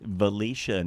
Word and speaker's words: Valatie: Uh we have from Valatia. Um is that the correct pronunciation, Derek? Valicia, New York.